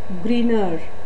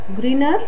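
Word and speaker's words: Grignard: the spelling like grig nard but it is pronounced as Greener once again Greener reagent okay so these Greener reagents are made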